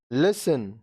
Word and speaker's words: listen: अब देखिए यहाँ पे T साइलेंट. Hasten, जल्दी करना. Hasten, जल्दी करना. Listen, सुनना.